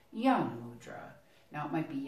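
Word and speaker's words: Gyan Mudra: basic one, is called Yana Mudra. Now it might be Yani or Yana Mudra, and it is with a G, but the G is silent. G-Y-A-N, Yana Mudra.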